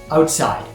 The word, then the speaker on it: outside: The emphasis is on the second part of the word, but let's say outside.